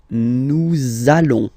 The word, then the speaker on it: nous allons: link between the words, so it does mean that you will have to pronounce this z sound, okay? Listen to me. Nous allons. Nous allons.